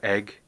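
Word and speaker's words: Aigle: French Eagle one well they call it egg but it's spelt able a I G le and but most leather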